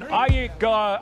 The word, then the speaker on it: Aykroyd: Chevy Chase, Gilda Radner, Dan Aykroyd. How the fuck do you pronounce this?